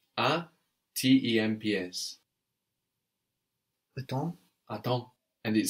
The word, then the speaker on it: attends: In both of those cases, no, we have a whole consonant syllable on the end that's silent. PS on the end of attends, on time, and then DS on the end of j'attends, tu attends.